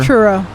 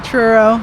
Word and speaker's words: Truro: the name of your churro churro yeah there's no ch but it's team yes it's a truro nova scotia nice beautiful